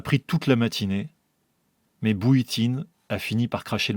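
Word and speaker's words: Bujtin: B u J T I N. Prononcé bouitine. Je m'en souviens maintenant parce que ça ressemblait à Botine.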